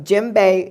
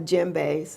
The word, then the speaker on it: djembe: But djembe is sort of like, the word is spelled DJEMBE, DJ.